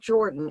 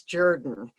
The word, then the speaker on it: Jordan: been around long enough, it is not Jordan, it's Jordan. His name was always pronounced Hamilton Jordan.